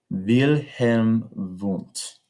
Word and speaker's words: Wilhelm Wundt: And that all started with Wilhelm Wundt in 1879. Notice that you pronounce German W's as V's.